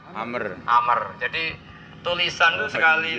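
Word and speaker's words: عمرو: Tebak kalau ain mem ra wawu, bacanya apa? Amr.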